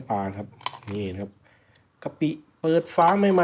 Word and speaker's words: กะปิ: นะ ครับนี่ นะ ครับ กะปิ เปิด ฝา ใหม่ ๆ เลย นะ ครับ ท่าน ผู้ ชม นี่ อ่าน ว่า กะปิ นะ ครับ ไม่ ใช่ กะปิ นะ